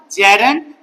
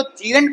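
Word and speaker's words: gerund: Teachers, बहुत सारे students इसको जीरेंट प्रोनाउंसिएशन रखते हैं, बट इट्स नॉट जीरेंट, it's rather जेरेंट।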